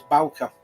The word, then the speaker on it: Bauker: Okay, And all the times I said Bauk and it was Bauker.